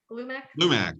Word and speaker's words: Glumac: Lumac, yes. They don't spell that out, right? It's they say it. That is how you say it.